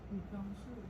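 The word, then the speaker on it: 丙戌: 무라고 읽어야 돼. 술이라고 읽어야 돼. 병 수? 병술? 병술. 맨날 헷갈려. 이 글자가 이게 밑에 있고 없고 이거 점은 없으면? 점 없으면 무? 무. 점 있으면 술?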